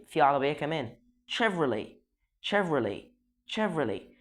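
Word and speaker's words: Chevrolet: شيفرولي مش شيفولي، لاني بسمع ناس كتير قوي بتقول شيفولي.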